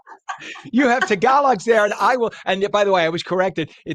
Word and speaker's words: Tagalog: You have Tagalogs there, and I will. And by the way, I was corrected. We say Tagalog.